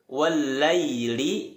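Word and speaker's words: وَاللَّيْلِ: Jangan sampai ya sukun wallaili dalam surah allail ini terkesan seperti bunyi huruf E. Lai yang betul adalah dia tetap dominan ke arah suara i.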